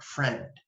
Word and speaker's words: friend: couple of exceptions okay sometimes the I will just sound like an e this is probably the only way here the short e here friend okay friend it rhymes with the word Ted friend okay see that see